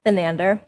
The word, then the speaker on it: Thanedar: Thanedar. He's horrible. Yeah, okay. Shri Thanedar, this guy is running against Donovan McKinney is trying to who's cool. He's very cool. Shri Thanedar, he is 71 years old.